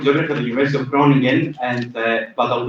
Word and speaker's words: Groningen: It's spelled Groningen, but it's pronounced Groningen. I don't know. Are there any Dutch people in the room? So hopefully I get the Dutch accent right. It's Groningen.